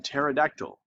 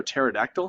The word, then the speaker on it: pterodactyl: Okay, so again, the asymptote, P is silent, like in pterodactyl. Did y'all know pterodactyl has a P in it? It's a silent P.